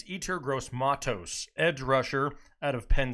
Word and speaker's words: Yetur Gross-Matos: It's Yetur Gross-Matos, edge rusher out of Penn State. And if I mispronounced it, back off my case.